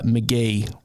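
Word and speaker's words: Mk.gee: first one is uh McGee but it's spelled mk. gwe he's a um guitarist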